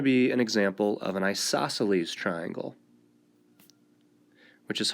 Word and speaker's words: isosceles: This is going to be an example of an isosceles triangle, which is hard to spell and doesn't look like it's pronounced.